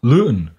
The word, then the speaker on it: Luton: and it is still I think it's usually pronounced by English people loon but you know you